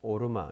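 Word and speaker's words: עָרְמָה: 그리고 오르마 이것도 이제 카미차트브를 읽어야 돼요. 자, 오늘 본문에 호크마 오르마 이게 전부 다 카미차트브예요. 여기 오 발음을 해야 되죠. 뒤에는 길고 오르마.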